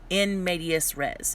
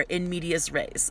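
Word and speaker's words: in medias res: and movies and stuff that's called inmedius res or in media's race i'm not really going to be particular about how you say it but it's spelled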